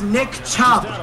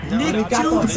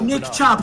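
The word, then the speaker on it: Chubb: Nick CH bro that's Nick chub Nick right Nick tubes does not exist that is actually gonna piss me off bro his name is Nick chub stop calling him Nick tubes dead ass bro third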